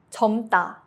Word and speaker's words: 젊다: 젊다, to be young. Only the 미음 sound is used.